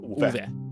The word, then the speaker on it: Ove: Yeah, you pronounce the E in Ove, so it's Ove.